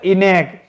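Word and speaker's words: ENIAC: था इसका जो राइट आंसर है वो है इनेक इ एन आई ए सी ठीक है आप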